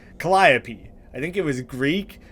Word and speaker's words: Calliope: which by the way confirmed the pronunciation with uh Google it's not like caliope or whatever I was saying Calliope I think it was